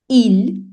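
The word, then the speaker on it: ils: Il, that is masculine plural, but you add an S, but S is not pronounced.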